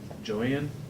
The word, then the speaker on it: Joann: I have another county auditor's representative, and hers is spelled the same way, but she pronounces it Joan, and I always seem to get them confused.